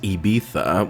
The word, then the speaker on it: Ibiza: him are going to get what's coming it's pronounced ibiza which i i had a i had like